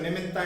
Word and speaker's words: निमित्तः: विकल्पा ऐसे बोल रहे हैं जैसे आप उसमें आप ही मात लगाए, विकल्प ऐसे निमित्त ऐसे उच्चारण करेंगे तो निमित्ता ऐसा लगता है जैसे कि अपन आ का उच्चारण कर रहे हैं, विसर्ग का उच्चारण नहीं कर रहे हैं।